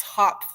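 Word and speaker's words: Hopf: So I'm working in a theory that is based on the complex hop vibration. So that's spelled H O PF and that is a mathematical object that represents how higher dimensions project to lower dimensions.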